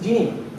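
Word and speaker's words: Djenee: It's not pronounced D-J-N-E. It's Jeannie.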